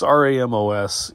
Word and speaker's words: Ramos: It's Ramos. It's like tomato. People pronounce it both ways.